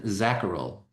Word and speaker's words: Zacherl: Can you please say your surname because I'm not 100% sure how to pronounce it. Yeah. Uh Dr. Zacharel.